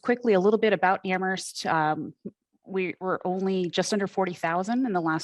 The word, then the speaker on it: Amherst: before, we do say Amherst, where only the H is silent.